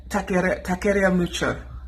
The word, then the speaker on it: Taqueria Mucho: You have to say it in a Spanish accent. In Taqueria Mucho.